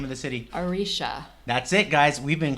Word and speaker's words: Aretia: Arishia. That's it, guys. We've been calling Aratia Aratia. This whole time I'm listening to the graphic audiobook novel and they pronounce it Arishia.